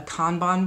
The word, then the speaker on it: Kanban: a board that's called a Kanban board I think is how you say it's K a and B a n and it is a